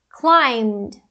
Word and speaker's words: climbed: O M é uma consoante vozeada, portanto, a gente vai usar o D. Climbed, climbed, climbed.